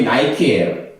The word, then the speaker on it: Nike: 니케라는 그 발음을, 헬라어 발음을 영어식으로 발음한 게 나이키예요.